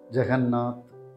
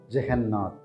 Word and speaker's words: Jagannath: This name can be pronounced in two ways. Jagannath or Jegannath.